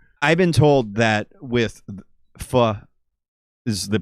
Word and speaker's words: pho: I've been told that with pho is the pronunciation of that.